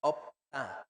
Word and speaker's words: 없다: se escribe como está en amarillo y se pronuncia como el rojo. ¿Ok? ¿Cómo se dice? 없다, No haber, no estar, no no tener, se estar. dice opta.